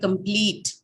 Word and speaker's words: complete: get the stress right for example the word complete extreme right so the second syllable is having a longer it has a long vowel and hence the stress now falls on the um last one on pleat and train uh verb what happens